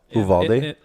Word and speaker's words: Uvalde: Uvalde?